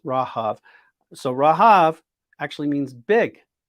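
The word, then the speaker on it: רהב: in hebrew it's rahav think of like rahab but it's actually pronounced rahav so rahav actually means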